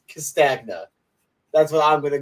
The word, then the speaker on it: Castagna: Castagna, but I always say Lasagna, so I'm going to be a little consistent until someone Yeah. like yells at me. It's Castagna.